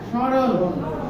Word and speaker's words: স্মরণ: white বোর্ডে দেখি সরল সরল মানে স এর মত কাল স এর মত উচ্চারণ হবে আর কি আসবে চন্দ্রবিন্দু চন্দ্রবিন্দু মানে চন্দ্রবিন্দু মানে নাসি চন্দ্রবিন্দু দেওয়ার কথার অর্থ হচ্ছে আমার বুঝে নিতে হবে ওটা নাসিক নাকের ব্যবহার করতে হবে তাহলে এটাকে স্মরণ বলা যাবে না স্মরণ বলি